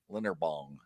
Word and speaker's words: Linderbaum: He says every day we talk about Linderbaum, and every day Jeff says his name wrong. Linderbaum.